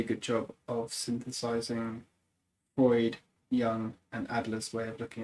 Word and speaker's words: Jung: He just does a really good job of synthesizing Freud, Jung, and Adler's way of looking at psychology to the point where like they all become a good conversation to each other.